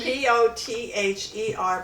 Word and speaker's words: pother: It's P- P-O-T-H-E-R, but it's pronounced pother.